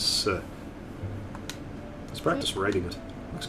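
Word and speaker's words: せ: It's a consonant followed by a vowel. Makes up a single syllable. You pronounce this as se.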